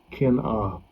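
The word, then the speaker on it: קִנְאָה: Kin-ah. Kin-ah. That's how you pronounce it there.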